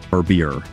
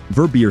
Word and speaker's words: Verbier: to opulent adventures and hit the like button verbier verbier is a village in Southwestern Switzerland known